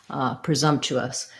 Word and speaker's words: presumptuous: says another schwa so that would look like pra zum us presumptuous one thing i will say is that this chew us since they're unstressed presumptuous trust doesn't usually get all the way reduced to chess presumptuous but you don't really